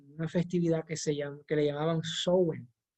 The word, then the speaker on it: Samhain: festividad que le llamaban Samhain. Se escribe Samhain, pero se pronuncia Samhain.